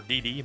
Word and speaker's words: DxD: I uh School pxd it's d double D or DD but uh I like pronouncing the X I shall put on